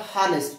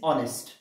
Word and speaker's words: honest: trusted look at this the pronunciation of this term is not harnessed it is honest understand the man who